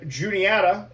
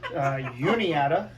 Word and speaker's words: Juniata: Hartwick and Juniata, or as you tried to pronounce it, Uniata, because we threw some Spanish in there, which was cool.